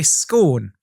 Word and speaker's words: scone: this is down to nationality so i say scorn and i have been told that in this